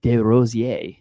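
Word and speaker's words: Desrosiers: It is Greg De Roier. if you if you're using the French pronunciation.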